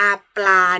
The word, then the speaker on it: ปลา: ปลา ปอ รอ อา ปลา นะ คะ เวลา นัก เรียน ออก เสียง นะ คะ จะ ออก เสียง 2 พยาน ชนะ ต้น นะ ครับ 2 ตัว ออก เสียง พร้อม กัน เลย นะ คะ คุณ ครู จะ ไม่